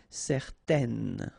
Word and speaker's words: certaine: and then they will produce this un sound. Okay, so it's nasal in your nose, un. Okay, if you add this at the end, then it will change the thing, and then you will pronounce it n.